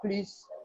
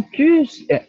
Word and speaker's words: plus: Elles ne sont plus, pardon, elles ne sont plus, c'est bon de te dire. Nathalie, le plus au négatif, on ne prononce pas le S.